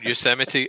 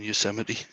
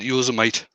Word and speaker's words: Yosemite: strange you should mention yosemite i always use it when i was a kid i always used to pronounce that you was a mate yeah the the thing